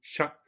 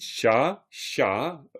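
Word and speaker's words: ཤ: quoi, je veux dire, le son, il est sec et haut. Vous diriez pas, par exemple, 1 kilo de viande, sha, kilo chick. Impossible. Ça se prononce pas du tout comme ça. Vous diriez sha, kilo chick, sha, sha. C'est vraiment sec et haut, sha.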